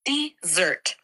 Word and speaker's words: dessert: The pronunciation is dessert with the emphasis on the second syllable.